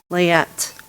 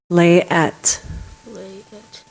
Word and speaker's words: layette: is a noun this word is from French layette maybe alternate pronunciations there is no alternate pronunciation could you repeat it please lay at L a ye ET this word has a